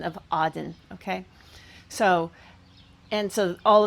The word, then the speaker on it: Eden: I pronounce with the paleo reconstructed PaleoHebrew um pronunciation of Aden.